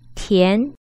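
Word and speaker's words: 田: The letter T is pronounced as T in Pinyin. Repeat after me. T, T, T. What about the final? The final is Yan, Yan, Yan. Tu Yan, Tian, Tu Yan, Tian.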